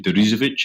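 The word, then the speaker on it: Deresiewicz: Sheep, William, struggled to do his second name, Derizovic, I think. That's right. Nicely pronounced, man.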